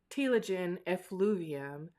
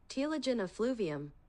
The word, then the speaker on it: telogen effluvium: to name a few reasons as to why telogen effluvium might happen. I used to struggle super hard with pronouncing this word.